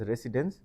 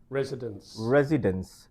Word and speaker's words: residence: In Bangladesh, people pronounce this word as residence, but it should be residence. Again, you need to, this time you have to stress the first syllable, residence.